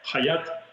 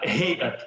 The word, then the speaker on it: Хаят: Коли вимовляють цю назву це не Хаят тахрірам а гей тахріраам арабською як український фрикативний г як нас коли вчили арабським діалектом То якраз сирійський діалект правильно вимовляти ті чи інші літе казали українську цю приказку на горі гуси гоготали Тобто це не